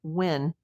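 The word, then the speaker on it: Nguyễn: I'm not I know that the the most common last name in Vietnam is pronounced "win" even though it starts with an N.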